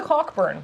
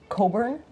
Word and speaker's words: Cockburn: up with these things there's a cockburn but it's pronounced Coburn I know cockburn as